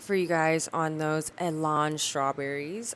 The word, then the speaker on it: Elan: you guys on those Alain strawberries. I was pronouncing it wrong in the previous videos. It's Alain. I guess you can pronounce it whatever way you want really, but as we have